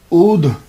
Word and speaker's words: अवध: अवध जो है क्योंकि इंग्लिश के अंदर जब मैंने इसके स्पेलिंग देखे हैं तो ए डब्ल्यू ए डी एच अवध और इसके अलावा उध भी इसका प्रोनाउंसिएशन मुझे मिला है कहीं ओ यू डी एच अवध उध ये शहर अब जो